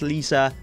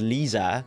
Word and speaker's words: Lisa: I also did pronounce it as Lisa. Mm-hmm. So it's supposed to be Lisa with an S.